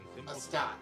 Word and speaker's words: Astate: Astate. Okay, see, I felt like I was pronouncing it incorrectly.